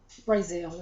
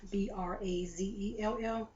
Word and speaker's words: Brazell: And this was, I was looking at a YouTuber named Mzbrazell, Brazell is the way she pronounced it, I believe, Brazell.